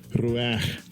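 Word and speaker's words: רוּחַ: Ruach, ruach. I can't do that throat clearing sound, but you heard him.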